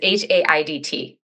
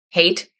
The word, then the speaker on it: Haidt: It's Haidt. Hate.